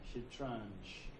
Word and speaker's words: Shatranj: Or pronounced Shatranj.